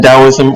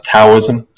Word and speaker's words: Taoism: you and and obey you maybe and then taoism or pronounce sometimes taoism so taoism or taoism is a chinese philosophy